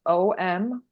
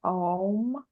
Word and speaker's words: Om: most simple exercises um is literally chanting one syllable and it's om om um and it's pronounced Au M like om like om but don't get too um too